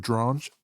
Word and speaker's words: Drange: You remember our man, Alfred Drange? Rhymes with orange.